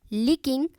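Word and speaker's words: licking: सी यहां पे जो है वो साइलेंट है। हालांकि सी लिखने में आएगा। प्रोनंसिएशन में नहीं आएगा।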